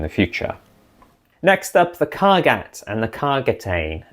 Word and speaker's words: Kargat: Next up, the Kargat and the Kargatane. In the past I probably pronounced this Kargat, apologies for that.